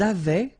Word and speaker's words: avaient: Ils avaient, so remember, even if we've got this A-I-E-N-T, well, we don't pronounce it, or we don't pronounce this E-N-T, so we get avait, okay, phonetically.